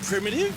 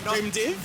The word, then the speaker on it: PRMIDV: Yousef I'm Anthony and we're primitive pronounced primitive not primtive not primitive not prime Dave not primtive Prim unreal very crazy